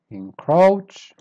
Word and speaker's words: encroach: grunt word number 10 encroach start weak and then you go up encroach word number 11.